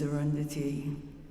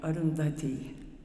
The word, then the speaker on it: Arundhati: I said, my name is Arundhati, pronouncing it totally incorrectly. And he said, oh, Arundhati is the great star. She was married to the great sage Vasishta. So, how Prabhupada said it kind of like Arundhati.